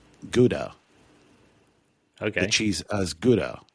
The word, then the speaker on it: Gouda: Gouda. That's how it's pronounced. But anyway, you were saying... What? Sorry. That's how it's pronounced. It's pronounced Gouda.